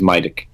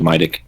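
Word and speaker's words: медик: Okay, I'm going to just pat my little drone and go, this is Midik. He is best boy. Alright. Incidentally, that's how you pronounce medic in Ukrainian, by the way.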